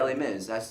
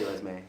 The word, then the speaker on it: Les Mis: I don't know how to say it in French. Les Miserables. Les Oh, Mis. Oh, Les Les Mis. Mis. Les Mis. I always say Lesme.